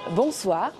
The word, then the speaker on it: bonsoir: Les lettres O et I forment le son wa en français, que l'on retrouve dans le mot moi. C'est un son similaire à la voyelle dans one en anglais.